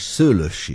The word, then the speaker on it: Szőllősy: András Szőlősy. I can't get it properly. Well, the accent is the first syllable.